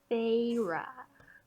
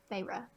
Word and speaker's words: Feyre: Probably Feyre. Right? That's how you pronounce it? Yes. Yeah. Feyre.